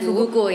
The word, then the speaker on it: Fugu: Karena sebenarnya Fugu itu adalah sebuah kata yang semua negara dan bangsa bisa menyebut dengan jelas dan nggak ada pronounce yang lain gitu loh. Fugu, penyebutan. Dari Prancis sampai China semuanya Fugu ya kan. Nggak tiba-tiba Fuguru gitu.